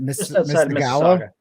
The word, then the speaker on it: Mississauga: But is it Mississauga?